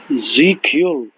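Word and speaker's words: Sieg Heil: Zikul.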